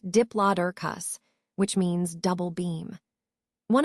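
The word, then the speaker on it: Diplodocus: Let's take a closer look at Dloicus, pronounced diplus, which means double beam.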